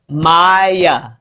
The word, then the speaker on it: Maya: So I'll go on to explain that Maya, your name has 2 syllables. Maya. That means you could hear 2 vowel sounds. Your first syllable is my, and your second syllable is and that's the A making that schwa sound or that lazy sound.